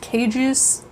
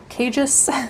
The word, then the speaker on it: Kjus: It is, I think it's pronounced Kjus, Kjus.